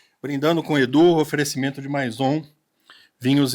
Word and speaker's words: Maison: Então esse foi o nosso querido Brindando com Edu, oferecimento de Maison vinhos e espumantes. Só corrigindo a pronúncia aqui antes que a Érica me xingue. É maison ou mazon? Meson.